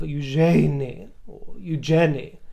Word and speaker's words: Eugenie: The stress is still not on the second syllable of eugeni.